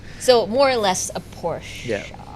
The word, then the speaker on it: Porsche: less a porsche yeah do you say porsche or porsche i say posh okay is it porsche i think portia is a thai way of saying it no i i think i heard a couple of americans say that because porsche is what german right a porsche